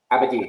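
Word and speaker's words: Abadie: Abadi, thank you.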